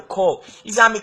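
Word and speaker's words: corps: See, should somebody tell you it's copper, do not believe them. Tell them it's wrong. It is not pronounced the way it is spelled. It is spelled as C-O-R-P-S. The P-S is silent. In phonetics, it is K-O-R, call.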